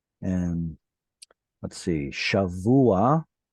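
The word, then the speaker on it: שבוע: And let's see, shavua, that would be an example with an ayin at the end. Shavua. So the patach here is just preceding the ayin, and then here maybe the word gavoah.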